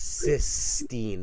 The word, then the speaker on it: Sistine: And it's Sistine, not six.